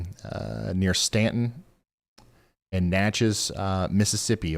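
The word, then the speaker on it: Natchez: uh near Stanton and natches uh Mississippi okay matches like matches so I said it right the first time somebody was just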